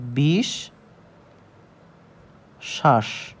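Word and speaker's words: বিশ্বাস: হচ্ছে বিষ শ্বাস দুইবার এই বটা কিন্তু উচ্চারণ হয়নি সুতরাং এই বের নাম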